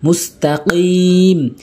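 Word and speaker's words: مُسْتَقِيم: call মুস্তা কফ ইয়া কফের উচ্চারণ জিহ্বার গোড়া উপরের তালুর সঙ্গে অনেকেই ভুল করে বলে মুস্তাকি বলতে হবে কাফ এনে উচ্চারণ করে বলতে হবে অনেকেই ভুল করে বলে কিম বলতে হবে কি মুস্তাকিম এরপরে সিরাতাল্লাজিনা সদ জের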